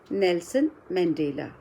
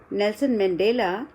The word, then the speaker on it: Nelson Mandela: So, before we begin anything about it, I would like you to read this complete name of Nelson Mandela. How will you pronounce it?